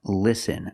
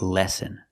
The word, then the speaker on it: listen: he means listen again the word is pronounced listen not lesson we need to short is sound like this is Li li listen so it should be